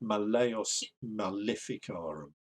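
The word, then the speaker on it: Malleus Maleficarum: be or to lie in latin a word with three syllables has the second emphasized right that kind of sounds right so malayas malificarum so even though that's a short second yeah i would go with malayos malificarum and if latin scholars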